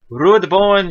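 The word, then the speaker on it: Rudbornn: okay fendor Callas so rud born Shalo rud born SH now rude one you can only do is two syllables cuz that's the way he's named spell some of these you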